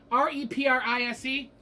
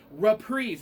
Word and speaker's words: Reprise: R-E-P-R-I-S-E. It's pronounced reprise. Reprise. It's not reprise at all.